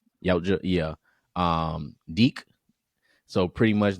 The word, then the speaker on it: Yautja: It covers the story of a young Yautja. That's how you pronounce their race. Yautja. Yautja, yeah.